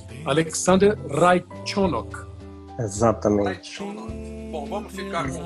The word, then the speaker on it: Raichenok: Então é Alexander Raikkonen.